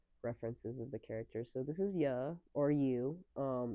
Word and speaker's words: Yue: So this is Ya or you. It's spelled Big like hiccups. Oh, I cannot YUE. speak. But it's I'm technically so quick. when you pronounce her name, it sounds like "yeah," which I It think is sounds like really funny.